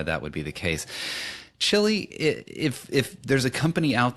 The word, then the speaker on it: Tshili: My name is spelled a bit like a Wi-Fi password, so I must spell it out for you. So it is Tshili, and it's Tshili, and it's Khupe, Khupe.